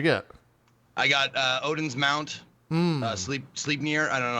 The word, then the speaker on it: Sleipnir: I got Odin's Mount, Sleepnir. I don't know how to pronounce it. Yeah. Sleipnir.